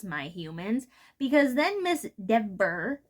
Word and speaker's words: Dever: It's Dever, not Dever, or whatever he said.